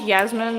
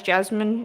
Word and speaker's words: Yasmin: my name gets like because my name is Yasmin and it I do often get mistaken as Jasmine it doesn't bother me